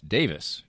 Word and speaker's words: Davies: They pronounce, in Britain, they pronounce Davies, Davis, just like, Glenn Davis or any Davis.